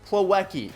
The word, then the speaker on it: Plawecki: I pulled up his name right here Kevin plawecki okay that's how you say his name so